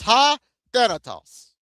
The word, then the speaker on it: Thanatos: It's spelled like T-O-V, but it says ha. The word ha right there, the T-O-V, it says ha and then Thanos, right? Or Thanatos. It's ha Thanatos.